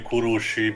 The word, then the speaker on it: Kurushi: Kashi in Europe the the correct pronunciation this should be kurushi because you know Japanese